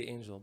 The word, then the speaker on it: Engel: Yeah, Israelis say angel, but Americans say Engel. So you could just say Engel.